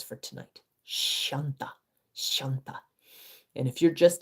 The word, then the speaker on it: Shanta: So, 137 is Shanta. And this means she who is peace, like Shanti, but different, Shanta.